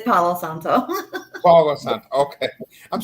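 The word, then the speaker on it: palo santo: Blood Sage white sage with cinnamon black Sage P Santo I'm saying us drag okay okay I'm totally saying it wrong aren't I it's pgo Santo right it's Pao Santo PA sant okay I'm saying P Santo over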